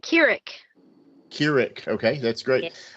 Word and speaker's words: Kirik: Yeah. Kirik. Yes, Kirik. Got it right. Okay.